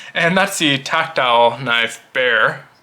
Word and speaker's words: Bexar: that's the tactile knife bear it's pronounced bear but spelled Bexar b-e-x-a-r but again it is